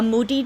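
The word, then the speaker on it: Mudi: The other person looks like a moody dog.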